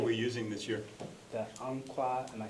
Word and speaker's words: Umpqua: The Umpqua, am I saying it right? Yeah, Umpqua.